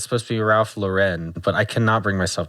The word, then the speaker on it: Ralph Lauren: over the last year yes you and the Ralph Lauren and I I I know it's not pronounced like that it's supposed to be Ralph Lauren but I cannot bring myself to say that